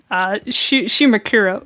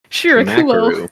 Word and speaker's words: Shirakumo: Shimakura. What? Hold on. Let's say his name correctly. Shirakumo. Shimakaru.